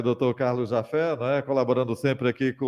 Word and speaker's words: Japhet: Do dr.carlosjafé, Jafé se escreve Japhet, não é isso?